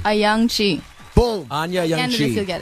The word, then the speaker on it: Ayoung-Chee: Ayoung-Chee.